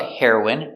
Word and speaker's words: heroine: next we have heroin the pronunciation is the same the drug heroin and the person heroin hero is for a